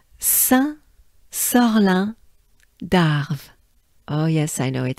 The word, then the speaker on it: Saint-Sorlin d'Arves: You do really, just don't look at the spelling of French names and words and basically the French language, right? It is not, it doesn't sound the way it's spelled, right?